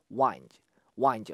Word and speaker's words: wind: pass 이고요 동시에 자 윈드가 아니라 자 발음 확인했어요 자 여러번 들어 보셔니다 여러분들 자 한번 들으면 안 돼요 꼭 한번 더 들으세요 자가 아니라 wind 였어요 wind th the였습니다 자 길이 필드를 통해서 구불구불 나 있다였습니다 wind 알겠죠 바음 확인 더 하세요